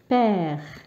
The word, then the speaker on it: père: donc الأب باللغة الفرنسية nous disons père. donc vous voyez هنا لو كان ما نعملش هذه العلامة فوق الأو يعطيني peur.